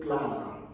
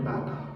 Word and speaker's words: Plata: Gonzalo Plaza. I think It's a Plaza or Plato. somebody. Gonzalo Plato, right? Yeah, I don't really know the name. Yeah. pronunciation. Yeah. He's just make sure. Yeah, Gonzalo Plata.